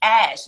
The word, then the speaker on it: HaJ: My name is spelled HaJ. So it looks like HaJ, but it's HaJ. If you ever call silent. That's right. H is silent. If you ever call my voicemail, you'll get a little rap that helps you along. You have reached HaJ, not HaJ, not HaJ. It kind of rhymes with cash.